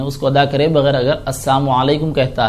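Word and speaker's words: السلام عليكم: और दूसरा जो मसला आपका है सलाम के बारे में, कि सलाम करने का जो सही तरीक़ा है वो अल्फाज का पूरा प्रोनाउंसिएशन होना चाहिए। अस्सलामु अलैकुम, अस्सलामु अलैकुम व रहमतुल्लाह, अस्सलामु अलैकुम व रहमतुल्लाहि व बरकातुहू।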